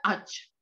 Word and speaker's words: ağaç: Kalau G bertanduk itu nggak dibaca, berarti abaikan saja, langsung aja ağaç.